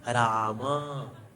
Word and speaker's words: Rama: No, it is not Ram, not Ram. It is Rama, Rama, Hare Krishna, Krishna, Hare Krishna.